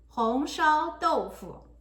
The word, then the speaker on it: 红烧豆腐: 红烧豆腐.